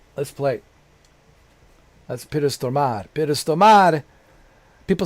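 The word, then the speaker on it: Stormare: That's Peter Stomar. Pistoar. People say, "How do you pronounce pronounce his name? Is it Ptormare or Stomar?" Peter Stomar. Peter Stomar. Not Stomare. Stomar, but I call him Stomar.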